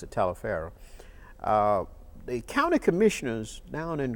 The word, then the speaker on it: Taliaferro: Some people said Toliver County but we pronounced it Taliaferro.